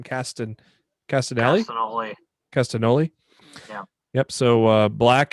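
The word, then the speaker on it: Castagnoli: tyler uh tyler black nigel mcginnis brian danielson and claudio castanel how do you say that his last name cast in castaneda castanoli yeah yep so uh black casted only mcginnis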